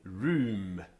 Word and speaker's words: Rome: this role mom Rome which by the best usage is pronounced as if written room in English room room was not